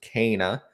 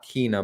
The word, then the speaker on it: Kena: uh kana bridge of spirits and yes it's pronounced kana not kina bridge of spirits as some people like to